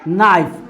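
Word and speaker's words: knife: next क्या है नाइफ, नाइफ means क्या होता है चाकू, नाइफ मीन्स क्या होता है चाकू, लेकिन इसमें के साइलेंट है, अभी अभी हम लोग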